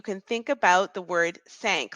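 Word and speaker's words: cinq: now in French the number four five is sank sank sank if it helps you you can think about the word sank like I sank my battleship you can think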